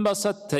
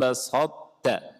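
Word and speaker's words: بسطت: basatta ilayya, la in basatta. Bacanya gimana? Basatta. Di sini ada idgham apa, siapa yang tahu? Basatta, bukan basatta, tapi basatta. Mutaqarribain belum. Bila gunah bukan. Mutajanisin. Ahsanta, barakallahu fik. Ada idgham mutajanisin.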